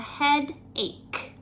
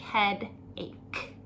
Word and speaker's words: headache: pronunciation here of headache it is spelled with the CH however we just pronounce it with a hard K C sound so it sounds like heada ache number six I have